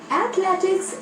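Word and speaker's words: athletics: इसे सही से बोलने के लिए इसके 3 भाग करें। पहले बोले एथ, फिर बोले ले, फिर बोले टिक्स। चलिए तीनों भागों को जोड़ते हुए बोलिए एथलेटिक्स।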